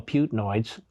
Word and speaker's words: Putinoids: But that aside, the propagandists for Putin, who I call Putinoids, because it rhymes with hemorrhoids, these bleeding Putinoids, fact